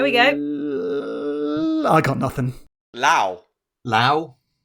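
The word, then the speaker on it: Lou: Lao. That's two different, I think. But it's how it's spelt! In what world? L-O-U. Lao. To be fair, as a school phonics leader, the OU sound is usually pronounced ow.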